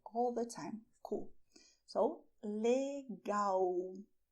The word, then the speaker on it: legal: "Cool", so "LEGAL". You may notice that the word begins with the same letter as it ends, but the pronunciation is different you say "LEGAL".